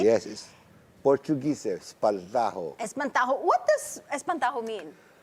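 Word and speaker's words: Espantaho: of course entry for the mmff this year Espanto did I pronounce that right yes Portuguese Espanto Espanto what does Espanto mean uh literally I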